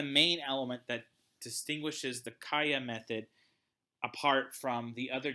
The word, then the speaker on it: CALLA: Chapter 9 focuses on the CALLA method, or I guess if you didn't pronounce it the Spanish way, you could call it the CALLA method, C-A-L-L-A method.